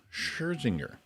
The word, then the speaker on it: Scherzinger: Singer and host, one of the hosts of The Masked Singer, Nicole Scherzinger. Is that how you say it? Yeah. Nicole Scherzinger.